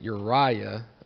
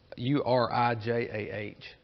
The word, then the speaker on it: Urijah: He returned to idolatry, and one of the other things I found is he killed a true prophet, and I'm pronouncing it Uriah, but it's Urijah.